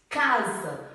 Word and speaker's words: casa: é o caso de casa. O S tem som de Z, mas se escreve com S, porque o S está entre duas vogais.